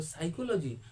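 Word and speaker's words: psychology: में P silent था तो छोड़ दीजिए पी पी एस वाई सी एच ओ एल यू जी ऐसे बोलना है हम बोल साइको कह रहे थे हम सी से स्टार्टिज चाहे एस से अमूमन सी से चाहे एस से स्टार्ट करो मतलब पी साइलेंट है साइलेंट का मतलब होता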